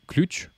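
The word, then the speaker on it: ключ: super exercice je trouve une clé en russe une clé ça se dit clutch je trouve y najou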